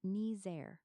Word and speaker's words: Niger: The discoverer named it after the country Niger, which is pronounced Nizer.